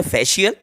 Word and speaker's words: facial: जैसे कि फेशियल, FACIAL, फैशियल, इसको शा पढ़ेंगे, फैशियल।